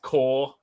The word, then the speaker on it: corps: knows what Corps are it's probably pronounced core but it's c r PS French for body core mate core now